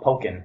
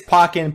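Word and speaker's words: Pokkén: to pronounce it because I was always called pokin it is pokken pokin you know tomato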